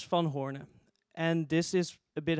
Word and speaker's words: Van Hoorne: cool so my name is fun Horner and this is a bit hard to pronounce so you can also say I've